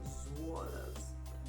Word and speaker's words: Zwollas: I'm going to go into this shade called Zwollas. I think that's how I pronounce it, Zwollas. So it's like dollars for Zwollas.